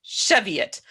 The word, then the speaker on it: Cheviot: Midwest of America, and there is a town outside of Cincinnati that is clearly Chavoy, but is pronounced Cheviot.